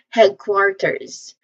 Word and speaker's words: headquarters: So the first syllable, which is head, is pronounced like the English word head. Head. Okay? This is, there's a short vowel E sound here. Head, eh, that's a short vowel sound. It's like bed, right?